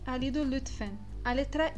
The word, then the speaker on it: lütfen: Então, a pronúncia dela sempre vai ser na ponta da língua, mesmo que ela esteja no final da palavra. Lütfen, lütfen, vai acabar na ponta da língua essa pronúncia.